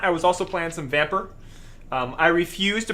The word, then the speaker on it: Vampyr: Aside from that, I was also playing some Vamper. I refuse to pronounce that game as Vampire because Vampire.